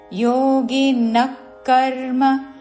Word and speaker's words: యోగినః కర్మ: యోగినకర్మ కుర్వంతి యోగినక్కర్మ విసర్గ తర్వాత పదములోనిక అందుకుంటూ యోగినక్కర్మ కుర్వంతి కుర్వంతి యోగినక్కర్మ కుర్వంతి